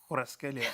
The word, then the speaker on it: Kvaratskhelia: Kvaratskhelia. Squirrels. Kvaratskhelia.